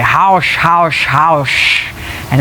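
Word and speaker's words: haux: of it they'll say Hausch, Hausch, Hausch, and it's a very like shh sort of at the end of it, and it's spelled H-A-U-X,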